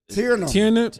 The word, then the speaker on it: Tiernan: How do you pronounce that last name? Tiernan. Tiernan. Tiernan. Caleb Tiernan from Tiernan.